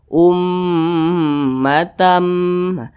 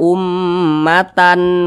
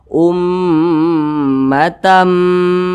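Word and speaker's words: أُمَّةً: Jadi dibaca ummatam. Jangan dibaca ummatan muslimatal lak. Jangan, tapi dimasukkan ummatam.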